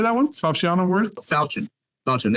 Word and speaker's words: Falchion: Falchion Award?